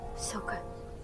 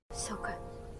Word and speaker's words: Sokka: Sokka, don't. I'm sorry, what? How did you say his name again? Sokka, don't.